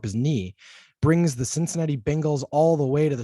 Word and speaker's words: Bengals: we have the bengals i was given some flack for occasionally pronouncing it bangles they are not the bangles they are the bengals uh let's make sure that that's clear the cincinnati bengals versus